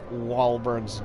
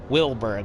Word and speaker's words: Wahlberg: So I need to get over there in order to investigate Wahlberg's death. Wait, what is that? What did I say his name was? Wilberg, excuse me. Wahlberg.